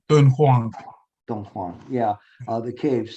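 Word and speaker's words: Dunhuang: I don't know, how do you say it, Dong Huang? Dun Huang.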